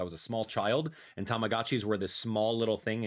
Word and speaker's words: Tamagotchi: what is it tagoi I used to call it tamagachi I'm so sorry I've been mispronouncing it my entire life since I was a small child and Tamagotchi were this small little